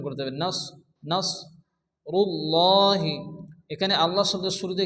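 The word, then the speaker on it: نصر الله: সদ পড়তে হবে এবং এ অক্ষরটিকে মোটা করে উচ্চারণ করতে হবে নাস নাস রুল্লাহি এখানে আল্লাহ শব্দের শুরুতে কি আসছে র এর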